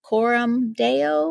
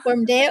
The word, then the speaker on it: Coram Deo: mentioned, in a project, I will pronounce it wrong, probably, but Coram Deo, Oh, Coram Deo, yeah. Coram Deo.